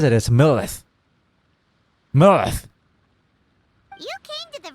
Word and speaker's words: Millilith: But the way he says it is Millilith.